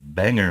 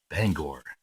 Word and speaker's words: Bangor: other day my wife and I went to Bangor Maine some of you have heard some songs where they mentioned Bangor some people call them call it Bangor Maine what's the song king of the road